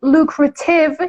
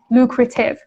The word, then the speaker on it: lucrative: بچه اگه بگین lucrative یعنی ت رو به صورت true تی واقعی تلفظ کنین کاملا درسته ها lucrative. ولی توی آمریکایی به صورت lucrative اکثرا تلفظ میشه. تی میشه flat T.